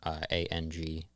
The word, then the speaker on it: ANG: You can find me on all streaming, ANG, pronounced Ang, or Ange, whatever you prefer.